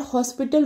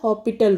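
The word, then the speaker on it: L'Hospital: questions करें subscribe and हॉस्पिटल rule नहीं कहना है इसमें ऐड साइलेंट रहता हॉस्पिटल रूल ओके आपने इसको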